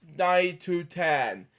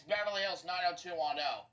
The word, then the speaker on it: Beverly Hills 90210: Oh man, Beverly Hills 90 to 10. Yeah, which I didn't pronounce. It's actually it's Beverly Hills 90210.